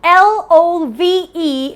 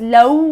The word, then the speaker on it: love: sure about that so l.o.v.e is not pronounced as low my dear friends it's love remember it has a V whenever you have a V in your word you have to bite your V's so if you pronounce